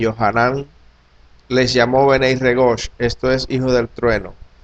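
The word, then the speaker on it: בני רגש: Juan, los llamó con una palabra hebrea que se pronuncia o es Benei Regosh, que significa hijos del trueno.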